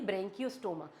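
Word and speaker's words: Branchiostoma: उसके बाद लास्ट आ जाता है हमारे पास एग्जांपल और एग्जांपल है यहां पे एक ही वो है ब्रेंकियो स्टोमा। ब्रेंकियो स्टोमा। बोलो इसको ब्रेंकियो स्टोमा। आपको प्रोनाउंस भी करना आना चाहिए कि ब्रेंकियोस्टोमा है यह।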